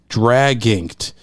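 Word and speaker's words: Draginked: Drag inked. Like it's dragon, but with an I instead of an O, and then KED. So drag inked.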